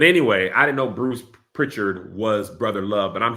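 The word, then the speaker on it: Prichard: that not house pronounced is it Pritchard oh like Richard with Pritchard is that right Pritchard oh my bad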